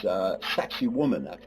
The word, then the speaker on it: Sacsayhuaman: Sacsayhuaman is one way they pronounce it.